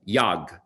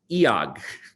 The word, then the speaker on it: iag: And I should note that it's not 1 syllable yag, it's 2 syllables, iag.